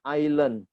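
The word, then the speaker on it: island: Hotel stadium house supermarket Ilen nih bacanya ailun Ya esnya silent Silent artinya tidak dibaca judul say Iceland Mbak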